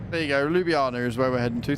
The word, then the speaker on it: Ljubljana: Yep, that pronunciation. Ljubljana. There you go, Ljubljana is where we're heading to.